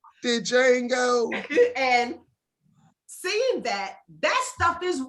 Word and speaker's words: Django: Because you had that house person, because I watched the Django, and the D is silent. Let me get that right. I watched Django. The Django.